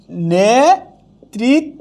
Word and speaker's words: নেতৃত্ব: বা যদি রিকার থাকে ঋকার থাকলে কখনো কি হবে না দৃত্ত হবে না কি হবে না দৃত্ত হবে না অর্থাৎ ডাবল ব্যঞ্জন হবে না যেমন নেতৃত্ব না উচ্চারণটা হবে নেতৃত্ব আবার কেউ যদি বলেন এটাকে এরকম করে নেতৃত্ব তাইলে এটা কি হবে না উচ্চারণ ঠিক হবে না কারণ ঋকার কখনো দৃত্ত হয় না র ফলাদিত্ত হবে র